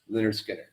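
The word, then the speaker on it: Lynyrd Skynyrd: Leonard Skinner, Oh, pronounced Leonard Skinner.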